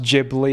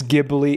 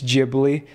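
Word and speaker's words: Ghibli: gibli it's not it's jibli gibli would make more sense to me as well that's how I used to pronounce it but apparently it's jibli because in Japanese they say jiburi A J sound okay not giuri it's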